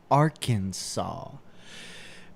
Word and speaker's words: Arkansas: three syllables with the with the final s silent aransa what oh no they're telling you how to pronounce it yes Arkansas I'm